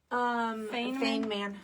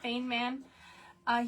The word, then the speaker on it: Feynman: Feynman. Feynman.